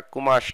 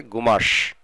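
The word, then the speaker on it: قماش: আরবিরা বিশেষ করে কয়ের উচ্চারণ কম করে থাকে, গয়ের উচ্চারণ করে থাকে, তারা কুমাশ না বলে বলে গুমাশ।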